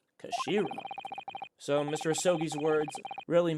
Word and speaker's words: Kashira: It's written the head of Japan in Japanese, but it's pronounced Kashiri. Kashira, I believe. Kashira.